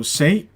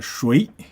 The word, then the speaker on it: 谁: So these two pronunciation, both are valid pronunciation. Okay, so means who. Okay, who. So it really depends on the context. Sometimes you say 谁, and sometimes 谁, 谁. Both are fine.